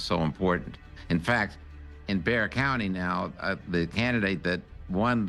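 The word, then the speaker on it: Bexar: It's called Bear County, but it's spelled B E X A R. Don't ask me why they don't pronounce the X, but anyway, that's what it is. in Bear County.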